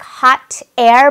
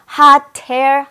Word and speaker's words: hot air: Are you ready to ride a fantastic hot air balloon? 하고 딱 끊어 발음하지 않고 hot 할 때 이 트 발음이 뒤로 살짝 넘어가서 hot air, hot air 핫해처럼 들렸을 거예요.